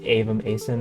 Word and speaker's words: Avem Aeson: Pronounced Avem, Aeson, not Avem, Aeson, or Aeson, or Aeson, or anything along those lines.